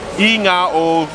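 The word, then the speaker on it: igoa: say yeah you say the word ingoa which is spelled i-g-o-a or in zamon the g sounds like na inga but if you're asking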